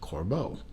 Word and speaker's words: Corbeau: from talking to the company that it is pronounced Corbeau the reference number of this watch is C